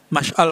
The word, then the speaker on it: Mash'al: Ya, Mash'al Pak Mash'al bacanya itu ya.